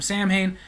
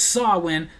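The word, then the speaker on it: Samhain: all Hall Eve I mentioned it came from Sam Hayne and this Pagan girl just went nuts like it's actually pronounced thn how can you not know it's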